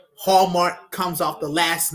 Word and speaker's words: Hallmark: It rhymes with Walmart. Hallmark, Walmart. Now we about to talk about Walmart.